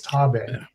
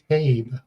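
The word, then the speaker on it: Taabe: And he keeps mispronouncing the name of her brother which is in the movie is Tabbe. He keeps calling the character Tabe multiple times and this video is still public.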